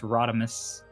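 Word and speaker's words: ROD5: Uh from one Rodmus in our Discord, uh spelled R O D5, pronounced Rodmus.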